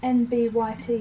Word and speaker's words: NBYT: NBYT. NBYT. Oh, I know what it looks like, but it's just saying them 4 letters.